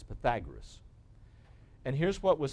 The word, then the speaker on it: Pythagoras: BC by Pythagoras now it looks like you pronounce it Pythagoras but it's Pythagoras and here's what was said if you take